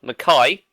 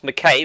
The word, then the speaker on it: Mackay: And it's Tom, we should get this right now, Mackay, not McKay like it's pronounced, or McKee like we pronounced it a fortnight ago.